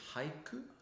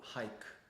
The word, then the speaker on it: haiku: Question number one is the pronunciation of is it hik or hike? Hike. No, in Japanese hik.